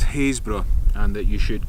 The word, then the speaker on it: Happisburgh: looks like it said hop his bug but I've been told on firm authority that is haze bruh and that you should